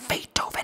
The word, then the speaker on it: Beethoven: Hoy vamos a hablar de la melodía en la que Ludwig van Beethoven se pronuncia Beethoven.